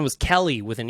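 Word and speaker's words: Kelle: So first up, one of the stars of episode 1 was Kelly with an E. K-E-L-L-E, more like Kel. That's how I would pronounce that.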